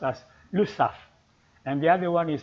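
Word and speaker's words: Lesaffre: the other one by the way you don't pronounce it as le safre but this is the surname and it is pronounced as lusaf and the other one is bonduel and they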